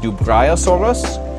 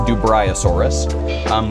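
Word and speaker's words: Dubreuillosaurus: In French, it's supposed to be pronounced Dubriosaurus, and in English, it's Dubriosaurus, which again is almost as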